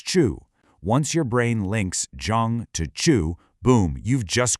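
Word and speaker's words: 중: Now shift over to the Japanese anomi, it is pronounced chu. Jung becomes chu. Once your brain links Jung to Chu, boom, you've just created a master key.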